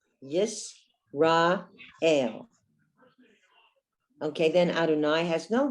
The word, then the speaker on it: Yisrael: Yisrael. Aleph is another silent letter. So under the Aleph, you have the tsere, the two dots, A. Yisrael.